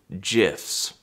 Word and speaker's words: GIF: died of coven but he pronounced it near the end jiffs so now we know